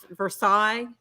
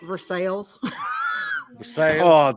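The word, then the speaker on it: Versailles: that we live in yeah if it's it's versaille but kentuckians pronounce it for sales that's wonderful that's just the way it is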